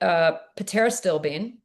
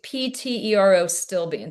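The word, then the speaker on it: pterostilbene: So the top four, I think for anyone over 40, would be pterostyl. Never It's even heard of that. it's PTERO stilbene.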